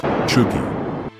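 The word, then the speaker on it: chūgi: Pronounced, Chugi.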